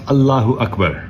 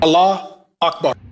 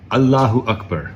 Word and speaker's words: Allahu Akbar: It's pronounced Allahu Akbar. Allah Akbar. No. Allahu Akbar. Allah Akbar.